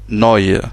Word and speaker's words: neu: On a le E et le U, à côté, ça se prononce oi, comme dans le mot neu, qui veut dire nouveau, ou new en anglais. Donc neu, voilà, le E